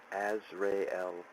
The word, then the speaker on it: Azrael: ozier oh my god correct pronunciation as rayel celestial title Angel of